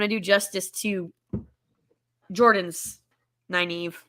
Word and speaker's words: naive: how to say it naive naive all right naive i'm going to forget and i'm just going to stay in the neve again like the knave again but naive naive all